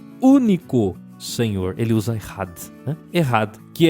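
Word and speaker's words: אחד: A primeira é errad. Não é echad, não. É errad, tá? Então se escreve echad.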